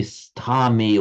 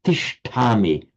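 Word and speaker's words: तिष्ठामि: So you don't say stami or stayami or something. You say tishtami, tishtati. It just reduplicates the first syllable slightly irregularly.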